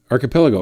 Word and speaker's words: archipelago: not so T tble tble tble horrible in archipelago is that wait that's how you say that archipelago of course now that I'm looking at that why didn't they spell it that way not trying to be offensive